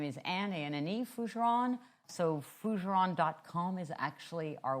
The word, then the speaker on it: Fougeron: My name is Ann an ane fujeron.